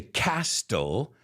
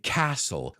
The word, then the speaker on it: castle: word Castle as well I don't say castle I say castle Como latte Nolo de